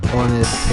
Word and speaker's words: honest: Tsunami, T is silent, honest, H is silent, island, S is silent, Q, U-E-U-E is silent.